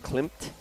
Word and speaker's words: Klimt: Good thing you pronounced the M. Yeah. Yeah, I mean, if in fact the M was silent, I would have pronounced it without the M because that is a name.